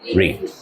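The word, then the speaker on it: read: রিড। রিডের past form কি বলো তো? রিডের পাস্ট ফর্ম কি? একই, তবে উচ্চারণটা চেঞ্জ হবে। উই রেড। রিডের পাস্ট ফর্মের উচ্চারণ কি? যদিও বানানটা সেম, প্রনাউন্সিয়েশনটা ডিফারেন্ট।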